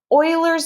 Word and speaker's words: Euler: credit for it don't watch it through YouTube Oilers number that's how this EUL er is pronounced Euler's number is just like pi it